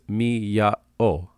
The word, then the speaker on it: Miyao: Also, by the way, I know it sounds like the noise a cat makes, but the castle is Miyao, or if you spell it in English, Miyao.